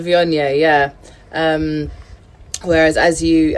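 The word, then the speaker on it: Viognier: um and sarah could be called shiraz but vionia is always going to have the same name or pronunciation even though it's got a g in it which is people think that it's called viennae or but it's very difficult yeah that's it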